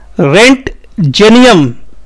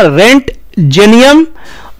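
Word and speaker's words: Roentgenium: दिया गया x raise element का उच्चारण होगा रेंट जेनियम ओ को एकदम भूल जाना रेंट जेनियम और इस इसको जिसने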